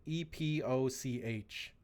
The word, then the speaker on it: epoch: it's pretty it's spelled e-p-o-c-h but i looked it up and apparently that word's pronounced like epic so epoch yeah apparently